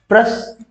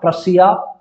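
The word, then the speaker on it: Prussia: प्रस जो है प्रोनाउंस किया जाता है प्रसा, प्रसिया, पर्सिया भी बोल सकते हैं इसे हम।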